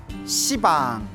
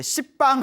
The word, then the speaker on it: 시방: 시방, 모든 공간을 가리켜 시방이라고 하는데요. 원래 한문으로 쓰면 열십자의 방위방자, 그래서 원래는 십방입니다. 십방. 근데 십방 하면 좀 너무 욕 같지 않습니까? 발음이 너무 억세가지고 이제 시방이라고 표현을 합니다.